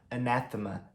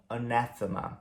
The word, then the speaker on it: anathema: His opinion was an anathema to me. A opinião dele era algo que eu realmente desprezava, né? Algo desprezível. Anathema. Ou seja, tirando o na, Todas as outras sílabas têm som de a.